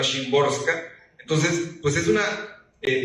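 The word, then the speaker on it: Szymborska: Bueno, yo quisiera que cuando se pronuncia simborska, que creo que no lo digo bien, pero que suene bien en el audiolibro, creo que es más cercano a Shimborska.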